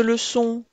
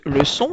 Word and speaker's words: leçon: Une leçon, il ne faut pas oublier le C cédille de leçon afin que le C se prononce bien ce.